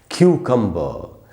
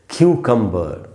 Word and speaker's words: cucumber: सही उच्चारण है क्यूकम्बर, क्यूकम्बर। यही इसका करेक्ट प्रोनाउंसिएशन है। इसको और कोई भी उच्चारण इसका नहीं करना चाहिए।